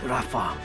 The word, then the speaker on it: Rafa: Okay, I can I can get with that pronunciation. It's actually about the same as the original. You know, the way it was spelled with a F instead of a ph, you know, ph.